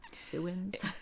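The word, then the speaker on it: sowans: other oddly pronounced name suin if I can pronounce it properly yeah so suin thank you suin is actually spelled s o w NS which from where I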